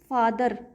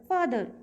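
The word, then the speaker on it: father: करेगा साइलेंट नहीं होगा अब अगर ये आ जाता है लास्ट में जैसे कि फादर वैसे तो हम बोलते हैं र की साउंड फादर लेकिन र जो है यहां पे साइलेंट होता है र साइलेंट होता है साउंड प्रोड्यूस नहीं करता फ फादर जैसे अंग्रेज लोग बोलते हैं फादर फादर उस तरीके से ठीक है तो उस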